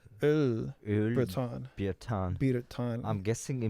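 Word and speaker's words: Öll: It's since kind of like German, it's Öl. Oh, It just has an Ö sound to it. Öl Breton.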